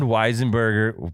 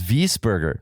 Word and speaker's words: Wiesberger: right no we didn't burn beast burger it's wiesberger that's how you that's how you say it what what australia that's how you say it in austria oh okay so it's